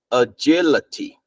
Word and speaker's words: agility: So the A here is pronounced as okay, agility.